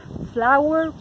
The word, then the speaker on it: flour: Entonces, si se acuerdan que la pronunciación de harina es igual que flor, okay, ya saben cómo decirla. So, es flower para ambas.